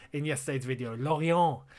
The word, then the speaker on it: Lorient: Lorient. Yeah, say it correctly. Not Lorient.